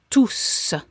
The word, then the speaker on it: tous: It can be pronounced tout, and the S is silent, or it can be pronounced tous, and the S is pronounced.